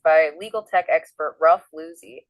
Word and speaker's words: Losey: what's up hey folks just a note Ralph pronounces his last name Loy uh not Lucy oh thanks for that pronunciation correction Dom yeah